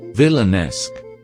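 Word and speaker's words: villanelle: Vi gimana cara bacanya ini? Vilanesk. Oh iya itu baikbaik terima kasih.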